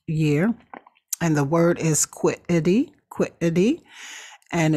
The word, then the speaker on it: quiddity: And the word is quiddity. And it's spelled Quiddity, quiddity.